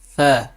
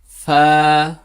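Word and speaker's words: ف: দ জাল ফ্যা দেখুন এই হরফটি কিভাবে উচ্চারণ করতে হয় নিচের ঠোঁটের পেট সামনের উপরের দুই দাঁতের আকার সঙ্গে লাগিয়ে এভাবে উচ্চারণ করতে হয় দেখুন ফা এই হরফটি দেখুন ফা এই কয়েকটি হরফ যে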